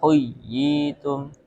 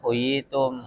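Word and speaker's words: حُيِّيتُم: Huyyitum huyyitum harus ada penekanan. Nah bukan huyitum gitu ya.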